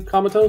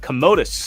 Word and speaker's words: Commodus: Comatose? That is Commodus.